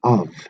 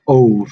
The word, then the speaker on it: of: Of. It's not ov, it's of.